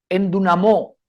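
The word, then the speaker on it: ἐνδυναμόω: palabra que en el griego verdad se se pronuncia en dunamó En dunamo qué significa apoderarse esta palabra aquí significa por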